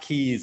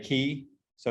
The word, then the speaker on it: k3s: a service called it's it's pronounced keys apparently but it's k3s which is a um